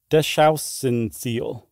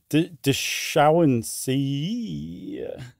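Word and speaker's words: deschauenseei: And then the dark spotted anaconda, which is Eunectes deschauenseal. Did I say that right, Mr. German pronunciation guy? I think that is an I at the end and not an L. Oh, deschauenseal.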